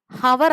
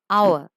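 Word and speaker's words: hour: Okay, next an ഹവർ അല്ല, ആനാവർ, അവർ. Okay, ആനാവർ.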